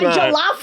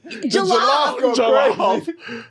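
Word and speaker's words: jollof: Jalaf. Julaf. The jalaf. Jalaf rice. And then And then you got to be like, "No, it's jalaf." Like it's jalof, Kelly.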